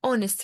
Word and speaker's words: honest: فأنا ال H silent واحنا بنقول honest، يعني احنا بننطق ال O، فهنختار an لأن ال O vowel وال H silent، فهتبقى Sheldon is an honest man.